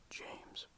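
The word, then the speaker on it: Games: 15 is James, spelled with a G, so that is G-A-M-E-S.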